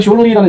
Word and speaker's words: shortly: The flight attendants will be coming down the aisle shortly. 자, 여기서 shortly라는 이 리을 발음에는 너무 신경을 쓰셨고, 네.